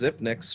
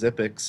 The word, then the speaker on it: Zipix: Everyone calling Zipix Zipnix for the longest time until he had an interview where he said it was Zipix, and so I guess everyone will.